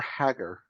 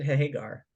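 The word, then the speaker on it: Hägar: Do you pronounce it Hagar or Hagar? I've always heard it Hagar, like Sammy Hagar.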